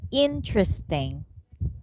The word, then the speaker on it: interesting: very good we say interesting interesting interesting interesting that's right so silent e no need to pronounce the first e you just say in interesting trusting correct interesting right